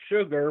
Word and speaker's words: Suga: new leader of japan suga is is spelled like sugar but with no r on the end as suga as the new leader in